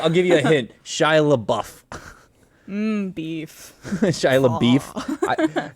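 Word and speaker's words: LaBeouf: give you I'll give you a hint shy La buff beef shy beef how do you pronounce his last name Le is it laou yeah it's like a is leau Even Stevens man Even Stevens you know that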